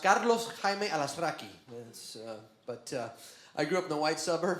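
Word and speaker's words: Carlos Jaime Alazraqui: Directly in Spanish is actually pronounced Carlos Hime Alaskrai.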